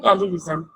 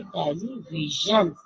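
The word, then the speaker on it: ٹیلی ویژن: कुछ बच्चे बोलते हैं टेलीविजन। टेलीविजन बच्चों, टेलीविजन जो है वो राइट प्रोनाउंसिएशन नहीं है। इसकी राइट जो आवाज है वो है टेलीविजन।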